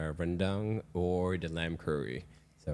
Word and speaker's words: rendang: I actually made I used Mosaic flour to make the tortillas, but I really did the Malaysian like rendang or the lamb curry.